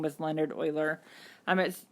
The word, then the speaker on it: Euler: whose name was Leonard Euler I'm at his name is spelt this way it doesn't really look like earlier but that's how you say it he lived in a